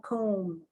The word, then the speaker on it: comb: that word comb cone there's another silent b comb you say it it's like comb and then i say the b but it's a hint of it but i don't pronounce it like come c-o-m-e damn dan dame dane